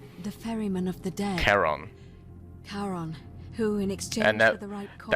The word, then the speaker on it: Charon: Only your pronunciation is a little off. The name you heard wasn't Karen. It was C-H-A-R-O. So, what we thought was just a Karen meme is actually Charon, the ferryman of the dead.